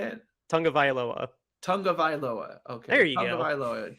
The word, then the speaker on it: Tagovailoa: So I don't imagine that they're going to go to Miami and beat Tua Tagovailoa. And you want to try that again? No. Tagovailoa? Is that how you say it? Tagovailoa.